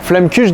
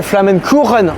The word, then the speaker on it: Flammekueche: à fait logique non flammekueche dans le reste de la france et en plus c'est même pas la bonne prononciation parce que ça s'appelle flamen couronne en alsacien alors c'est un établissement